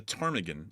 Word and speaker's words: ptarmigan: The ptarmigan, I think, because I think the P is silent.